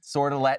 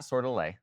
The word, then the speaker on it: Sordelet: In fact, our boy, Damian Sordelet, which, by the way, I did confirm Sordelet, not Sordelet. I have been saying it right this whole time. I thought he was French.